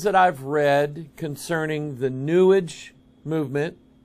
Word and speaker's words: New Age: i've read concerning the newage movement new age rhymes with sewage out of the new